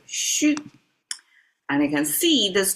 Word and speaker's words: 戌: It's shu. It's mapped to September, mapped to um the dark zodiac sign and is pronounced as shu.